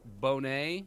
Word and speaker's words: Boner: Pronounced Bonet. Bonet.